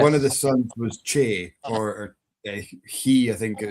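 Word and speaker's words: Cé: It's about the North Pictish kings, and one of the sons was Che or Chi. It's spelled CE, and it's where we get the name for the hill Benahee.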